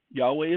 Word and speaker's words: Yahweh: Yahweh is the Hebrew pronunciation of the name.